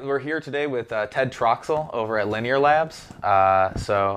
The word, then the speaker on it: Ted Troxell: all right we're here today with Ted Troxel over at linear labs so I pronounced your name right yeah yeah perfect all